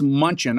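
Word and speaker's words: Mnuchin: TR treasury Steve is I think it's munchin I MN u c h i n how do you pronounce that Munch he's got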